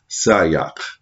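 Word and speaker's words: siyach: the hebrew word called sayak sayak is spelled s-i-y-a-c-h which confers communion which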